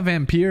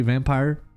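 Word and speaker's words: Vampyr: Je dis tout le temps Vampire à cause du Y, mais je pense que c'est prononcé Vampire.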